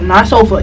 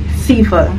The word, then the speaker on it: Sifa: And so it's pronounced Sifa, not Sofa. Definitely not Sofa. Sifa.